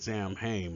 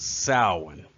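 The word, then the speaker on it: Samhain: a day called sowing I used to pronounce this word Sam hame but I just found out that uh the correct uh pronunciation of the word is sowing it is an extraordinarily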